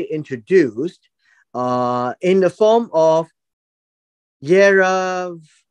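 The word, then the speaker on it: ירבעם: Now we have a new personality introduced in the form of Yerov-am, at least that's how it's pronounced. Yerov-am, right here.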